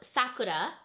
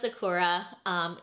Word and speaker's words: Sakura: So it's Rose Sakura, not Rose Sakura. If you're pronouncing the Japanese pronunciation.